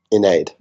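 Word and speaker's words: Ynnead: Inaid. I go with Inaid, but I think Bob. Iniad is the canon pronunciation.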